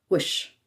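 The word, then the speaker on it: وش: Wish. This is sometimes shortened to sh when said quickly or in front of other words as we saw with schlonic.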